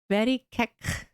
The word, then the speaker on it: Verikek: Verikek. You say it pretty. No way! No way! I said it right. No way. Cool. Thanks. The very shouldn't be emphasized. So, very kek, kinda.